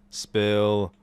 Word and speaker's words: Spill: This, guys, is the 63rd edition of the Chill Spill Podcast. The S is silent, by the way.